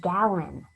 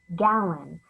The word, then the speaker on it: gallon: of fun to say this word is gallon that's because this guy right here is the schwa sound it's the uh spelled with a different vowel gallon we need another gallon